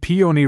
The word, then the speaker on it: peony: Balcony rhyming with pony, and peony rhyming with pony.